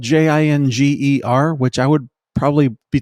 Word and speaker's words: Jinger: her name is spelled j-i-n-g-e-r which I would probably be tempted to pronounce Ginger but I think her name is Jinger forgive me if I'm